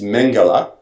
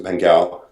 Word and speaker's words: Mengele: By the way, it's Mengele, Dr. Mengele, as opposed to Mengele.